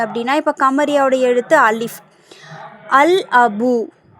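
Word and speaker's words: الأب: அல் அபு சரியா அல் அபு அலிப்லாமுக்கு அப்புறம் அலிப் அப்படிங்கிற ஒரு கமரியா எழுத்து வந்திருக்கு. சோ அல் அபு அப்படின்னுதான் அதை வாசிக்கணும். லாம சேர்த்து உச்சரிக்கணும்.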